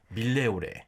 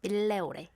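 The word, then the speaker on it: Migliore: I asked her how to pronounce She's it. never been there. Milleore. Milleore. Milleore is like where you go for cheap clothes.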